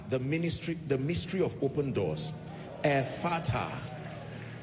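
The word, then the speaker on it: Ephphatha: Ephata. Ephata is spelled E-P-H-P-H-A-T-H-A.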